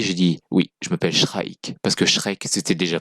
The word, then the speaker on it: Shrike: Donc si je le prononce bien, parce que c'est che comme chat, enfin chat, mais avec un R. Après le son che, donc Shra, et puis qui file en ik, donc Shrike.